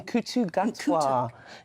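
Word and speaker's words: Ncuti Gatwa: In Kutu Gatwa.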